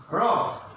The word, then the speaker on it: rob: hope, and next come rob, R-O-B, rob, R-O-B, rob, and another robe. খেয়াল করো উচ্চারণটা, খেয়াল করো রব মানে সোজাসুজি হবে, আমাদের উচ্চারণটা হবে এখানে সোজাসুজি রব।